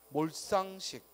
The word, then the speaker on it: 몰상식: 갈등, 발동, 절도, 말상, 불소, 일시, 갈증, 물질, 발전, 몰상식, 불세출. 특히 몰상식과 불세출 주의하지. 왜냐하면 몰상식, 불세출 해도 어색하지 않거든. 그래서 우리가 헷갈릴 수 있기 때문에 몰상식, 불세출 된 소리로 발음해야 돼요.